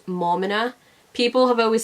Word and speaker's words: Maumina: said this before but you pronounce my name as mama no people have always said